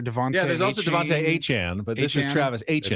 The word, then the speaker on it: Etienne: I mean, you all know Travis Etienne Jr., right? Yes. He said today, that's not how you say my name. Travis Etienne.